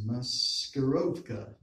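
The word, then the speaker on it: маскировка: word version of each pronounced master oka which is the Russian word for dissension military deception we need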